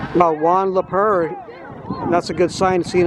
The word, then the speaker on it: Leur: think that Yeah, it's Juan Leur. One le slow getting up for the Falcons. And I want to thank uh thank the Falcons for helping me pronounce his name. L E P R. It's like a a f French pronunciation. Juan Leur.